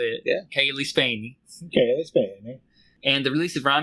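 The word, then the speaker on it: Cailee Spaeny: According to a YouTube channel called Celebrities Saying Their Own Names, I have been correctly pronouncing the lead actress's name as Kaylee Spaney.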